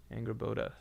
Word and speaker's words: Angrboda: Angrboda. Oh, this is Norse. But this is spelled differently. It's not Ange, it's Angrboda. Angrboda.